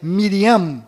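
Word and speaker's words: מרים: menos sofreram mudanças foram Maria que na verdade é Miriam com m mundo no final Rei Davi que na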